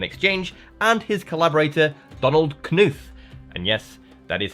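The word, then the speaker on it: Knuth: and his collaborator Donald Kuth. And yes, that is how you pronounce it. I figure you got only five letters in the name. You might as well use them all.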